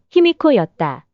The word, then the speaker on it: 히미코: 그러나 이것은 외인들의 발음이었던 히미코를 소리나는 대로 유사한 환자로 표기한 것에 불과한 것이며 본래 발음은 희미코였다.